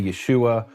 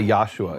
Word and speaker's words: Yahshua: And I've seen, is this correct that you spell it Y-A-H-S-H-U-A? Because a lot of Messianic people and Hebrews people will say Yeshua, and there's other forms of it. You say Yahshua. Is that? Yahshua, that's correct.